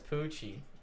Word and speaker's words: Pucci: Well, no, it's Poochie, like Poochie. You It's know, kind of like. pronounced both ways with the C's because it's like Italian and a little French.